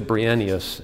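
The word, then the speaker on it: Bryennios: by the name of philotheos verenos philothios brienneus in the english pronunciation who was born outside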